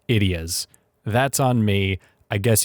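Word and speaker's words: Ideya: of these things called ideas alright so little interjection from editing nick the word is actually pronounced idiot and it's actually a take on the tagalog word for idea so i'm kind of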